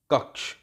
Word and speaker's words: कक्ष: लेकिन उच्चारण करते समय आप ये जो श है इसका उच्चारण नहीं करेंगे। उच्चारण इसका कैसे होगा? इसका उच्चारण होगा ये क, धन, और श की जगह ये आएगा, ये वाला। तब आप बोलेंगे छ, कक्ष, ऐसा, इस छ के लिए।